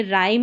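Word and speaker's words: rhyme: और यहां पर अ आर और एच रहेगा। इसको भी र पढ़ेंगे। राइम में पढ़ा जैसे क्योंकि एच यहां पर भी साइलेंट है।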